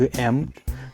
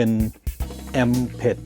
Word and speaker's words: Amped: แก่ แอม Pro Air แอม นะ ครับ มี หลาย ๆ คน ออก ออก เสียง เพี้ยน ไป นิด หน่อย มัน คือ แอมป ถ้า จะ ออก เสียง ให้ ชัด ๆ แบบ เจ้า ของ ภาษา ก็ จะ มี เสียง ท ถ ถุง สระ อึ แอม บาง คน อ่าน ออก เสียง เป็น แอม เพด ไม่ ใช่ นะ ครับ แ แ Pro Air